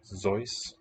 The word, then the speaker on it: Seuss: By the way, have you ever heard that Dr. Seuss wanted it pronounced Zeus?